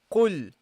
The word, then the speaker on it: قل: So practically, basically what you have to do is attach the qaf with the lam. Okay, so you say qul.